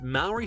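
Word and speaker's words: Māori: extinct in the 15th century when the first Moury settlers executed all the moa. Hey, he pronounced Mauy correctly.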